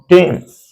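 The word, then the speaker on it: Thames: जैसे आप जानते हैं London stands on टेम्स, London stands on टेम्स, London टेम्स नदी के किनारे बसा हुआ है, टेम्स है दिस वन।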